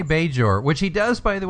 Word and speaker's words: Bajor: tell you why because you'll notice that he pronounces it budge or and it's true yes he doesn't say Bajor which he does by the way by the